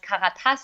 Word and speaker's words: Karatas: So it would be pronounced Karatas in German, but in English it's very good pronounced.